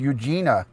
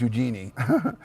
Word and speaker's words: Eugenie: of his two daughters princess Eugenia or Eugenie I think it's pronounced Eugenie but his daughter had